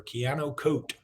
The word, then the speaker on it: Keanu Koht: back it's time for Keanu coat that's how you say it on Jimmy Stein's countdown